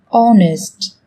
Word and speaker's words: honest: Trong tiếng Anh cũng có một số từ mà cách viết chúng ta thấy xuất hiện chữ cái h, nhưng khi phát âm thì chúng ta lại không cần phải phát âm này, người ta còn gọi là âm h câm.